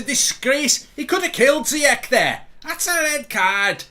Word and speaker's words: Ziyech: Mark, please, it's Ziyech, not Ziyech, pronounced with a SH sound.